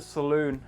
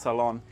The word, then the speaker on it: saloon: area we're in the saloon at the moment it is not a place you go to get your hair done and it's not pronounced Salon it's called Saloon and it is the